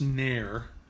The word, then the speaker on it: Ner: So Ner. Okay. I've got to get that so I can link it. It's Hebrew 5369. It's pronounced Ner.